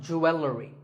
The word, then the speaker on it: jewelry: number 44 is jewelry it's spelled differently in American and British English but it's pronounced the same Jew will read jewelry it's not jewelry and it's not jewelry it's jewelry up next is the word